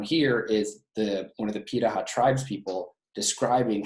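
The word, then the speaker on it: Pirahã: There's another group in Africa called it's pronounced Pitaha, even though it looks like Piraha, it's actually pronounced Pitaha.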